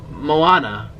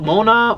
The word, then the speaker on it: Moana: that sounds so bad not Moana not it's Moana I've been seeing her name wrong I've seen in the comments I'm like Mona mana Hana Maui Moana I didn't get to